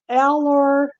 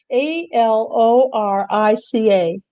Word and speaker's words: Alorica: All right, the next one I have is called Alorcia. That's not how you pronounce it, but Marian is pronouncing it that way. I'll spell it. Alorica.